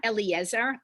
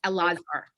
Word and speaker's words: Elazar: spelled e-l-e-a-z-a-r or e-l-a-z-a-r it's not eliezer it's a lazar so it's very close it's the same root um if you uh